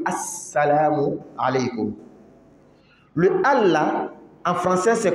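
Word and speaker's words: السلام عليكم: En fait, c'est al, le A et puis le la, celui qui connaît. A et le la. Seulement que le la ici n'est pas prononcé. À cause d'une règle de la langue arabe, on appelle harf shamsi. Lorsque le harf shamsi vient après le la, on ne le prononce pas. Mais seulement on met shidda sur le sa. On dit assalamu alaykum.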